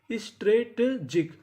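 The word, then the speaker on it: strategic: एस टी आर ए इसे पढ़ेंगे stray. यहां पे जो ए है वो ए की मात्रा का काम करेगा। स्ट्रेटजिक स्ट्रेटेजिक। स्ट्रेटेजिक।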